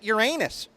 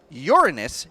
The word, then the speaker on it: Uranus: planets Saturn and Uranus, or as he incorrectly pronounces it, Uranus. I consulted with some of my friends at NASA, and they confirmed that Saturn and Uranus, or Uranus as it should be said, have shown absolutely no signs of life.